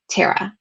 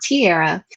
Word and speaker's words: Tara: and i'm like yup tear a piece of paper tara not tara not tiara but um what's really nice